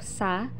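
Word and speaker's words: س: Berikutnya huruf sin atau huruf sa diucapkan dengan menggunakan lidah terdekat hampir di atas dua gigi seri bagian bawah. Sebagaimana kita melafalkan huruf za, tapi diiringi dengan mengalirnya suara dan nafas secara bersamaan.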